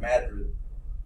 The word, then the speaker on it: Madrid: It spelled like Madrid, but it's called Madrid, Missouri, I believe it is, somewhere there.